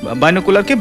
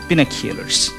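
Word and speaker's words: binoculars: এটাকে দূরবীন বলছো, মানে বাইনোকুলারকে বিনোকুলারস বললেন, সঠিক উচ্চারণটা বিনোকুলারস, বাইনোকুলার না বিনোকুলারস, এস বলতে হবে কিন্তু শেষে।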